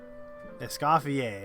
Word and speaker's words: Escoffier: Esafier. Okay, that's how you pronounce it.